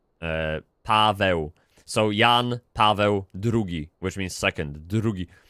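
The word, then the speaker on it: Jan Paweł: First, Pope Joan Paul uh we we we we say his name in Polish, Yan Pavi. John is Yan like uh Jan, but you pronounce it in Polish, right? Yan. And Paul is Pavo.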